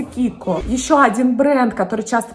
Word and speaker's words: KIKO: Это миланский бренд Kiko косметический, который часто нашими блогерами и визажистами произносится как Kiko. На самом деле бренд называется Kiko.